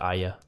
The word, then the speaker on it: Arya: I'm Arya Ian she pronounces it Aya do you know who